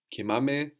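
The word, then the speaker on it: κοιμάμαι: Now we're accenting the endings now. Kimame, kimasse.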